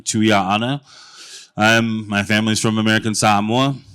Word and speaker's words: Tuia'ana: Beautiful pronunciation by my good friend Benem of my last name, Tuia'ana.